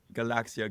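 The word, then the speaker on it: Galaksija: invented this Galax computer how how do you pronounce it you know what I'm talking about Galaxia now and he um it was this do-it-yourself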